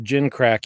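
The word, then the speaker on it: gimcrack: fine gim crack well it's a it's it's pronounced gin crack even though it's G it's pronounced like it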